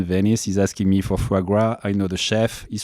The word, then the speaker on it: foie gras: Yeah, foie gras.